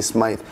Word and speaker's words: Smythe: I always say it wrong. I say Smith, but I mean to say Smythe.